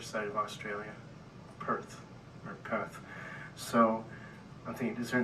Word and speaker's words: Perth: perth western australia and they pronounced it path there's no r's like shock not shark this is a shock so it's path but anyway i went